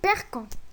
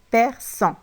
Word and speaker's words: perçons: Question, pourquoi on a mis une cédille ici? Pour ne pas prononcer, nous perquons. Très bien, Kiltum. Pour ne pas prononcer le verbe ainsi, nous perquons. Car on doit le prononcer nous perçons.